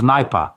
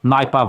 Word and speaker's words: Nipah: The thing is called Nipah. I'll spell it out. November, India, Papa, Alpha, Hotel, Nipah virus.